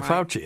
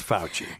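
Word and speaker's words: Fauci: fouchi yeah I'll never say his name yeah fouchi that's right okay well I heard people say it different that's fouchy anyway um that this is the worst nightmare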